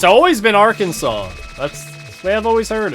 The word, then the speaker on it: Arkansas: how do you pronounce Arkansas Arkansas don't say Aransas like you got to do non-american states if you want me to pronounce them wrong Ares interesting yeah it's just Arkansas don't ask me why I'm not from the